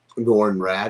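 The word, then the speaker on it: Norrin Radd: needs to stay um nor and rad is that how you say his name yes nor it needs to be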